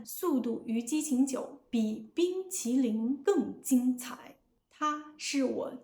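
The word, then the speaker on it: 冰淇淋: In standard Chinese, like how I say it, each syllable is clear and separate. bīngqílín But, Cinder's syllables blend together. bīngqílín He rushes through the word. To a native ear, this sounds mumbled or slurred.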